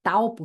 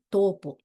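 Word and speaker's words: Taupō: como W mesmo tá outra coisa que me ensinaram é que a u se pronuncia o então a cidade de tupo que a gente fala né o correto seria dizer topo e tauranga seria tanga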